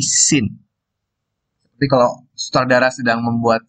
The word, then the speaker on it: scene: Cara bacanya bukan skin ya, tapi scene.